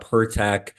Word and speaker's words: Pertech: and and GNA talk a little bit about pertech today um let's Jump Right In man right